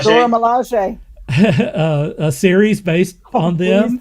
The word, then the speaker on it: Dora Milaje: Dora Milaje. Dora Milaje.